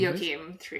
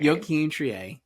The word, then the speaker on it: Joachim Trier: Joachim Trier. Joachim Trier, who directed The Worst Person in the World. I'm The Worst Person in the World cuz Say it again. Joachim. Joachim Trier, not going to get that right for weeks.